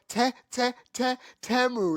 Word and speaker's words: Temu: there was like, how long we've been pronouncing that shit Timu, and they finally came out with a Super Bowl commercial. Now we know it's and they made a song so everybody know what the fuck Temu, like